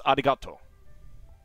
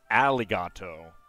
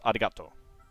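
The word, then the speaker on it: ありがとう: a pronunciation it's it's Arigato so it's not Arigato or it's not aligato it's Arigato because your mouth is uh basically forming a a kind of midpoint between English R and uh L seems oddly appropriate for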